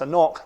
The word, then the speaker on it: An Cnoc: the middle of it so it's a knock like a knock on the door and that's gaelic for